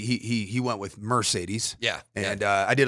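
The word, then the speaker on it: Marcedes: journalism and it's I looked at the pronunciation guide from UCLA back when Mercedes Lewis played there and it is m a r hyphen uh whatever s a y hyphen and then believe it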